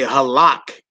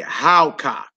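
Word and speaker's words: הלכה: So you wouldn't say halak. You say howka.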